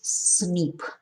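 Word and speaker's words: SNP: single nucleotide polymorphism or cnp pronounces snip scientists are studying uh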